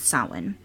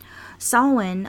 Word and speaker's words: Samhain: che I n but their pronunciation is Sawin Sawin along with some other